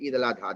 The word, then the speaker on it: Eid al-Adha: So Eid al-Fitr and Eid al-Adha. That's how they say it in Arabic here.